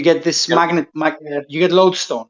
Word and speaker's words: lodestone: a it's spelled l-o-d-e load song but it's pronounced lodestone so it right it's a naturally occurring magnet